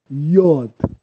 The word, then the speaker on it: Yod: Então, o Y, ou Y, em hebraico é pronunciado Yod, Yod, Yod, Y, O, D mudo no final, Yod.